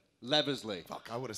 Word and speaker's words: Leavesley: How do you pronounce your last name? Leavesley.